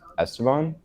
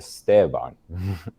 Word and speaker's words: Esteban: little bit unique where most people say his name is Esteban and I say no it's not Esteban it's a Stevan just like the name